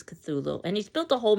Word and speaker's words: Cthulhu: lovecraftian folklore um Cthulhu a great monstrosity that in theory can't even be pronounced um so the best or the closest we can come to with our human tongues is Cthulhu and he's built a